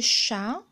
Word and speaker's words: chat: lire une phrase le chat a chassé la souris comme jose ayant eu au début quand on écrit le chat on l'écrit avec t mais au moment de la lecture on ne prononce pas on prononce pas le